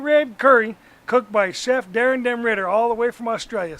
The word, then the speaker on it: Daren Ritter: We're shooting season 13 of Cooking on the Disket, and we got our awesome guest chef, Chef Daren Ritter.